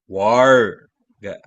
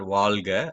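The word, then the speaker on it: वर्ग: Varga. Varga. Not Valga, not Valga.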